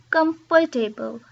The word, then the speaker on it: comfortable: So they say comfortable, comfortable. But really, it's not comfortable, it's comfortable, comfortable, comfortable. So it's not comfortable, it's just comfortable, comfortable. Okay. So we actually lose a syllable there.